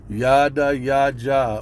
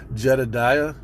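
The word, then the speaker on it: Yedidyah: It's not but it's Yada Yaja, or in the English attempt to translate that, Jedediah, but it's correctly pronounced Yada Yaja, and I believe it means beloved of Yahweh.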